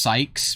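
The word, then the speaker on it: Saïx: Well, it's so I guess it's meant to be pronounced Sykes because the Romanji is like Sykusu.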